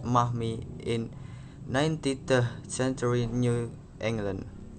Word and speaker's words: Marmee: of their strong-willed mother, affectionately called Marmee, pronounced Mahmi, in 19th century New England.